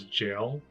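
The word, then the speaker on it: gaol: They actually pronounced gal as jail. I wonder if that was a typo.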